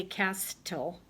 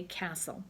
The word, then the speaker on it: castle: to below it says when the letters stle are together in a word the letter T is silent so you don't say cast tol but you say Castle so they want you